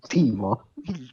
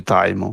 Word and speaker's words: Timo: Il Timo Timo. è un malvagio zelante, una personcina molto amorosa. Verità si legge Taimo, ma comunque.